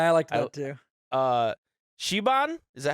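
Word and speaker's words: Siobhan: Shiban, is that how you say her name?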